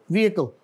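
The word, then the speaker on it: vehicle: और आगे जो है इसमें क्या लेटर कौन सा लेटर साइलेंट है एच साइलेंट है इसमें वकल और आगे वाय काउंट वाय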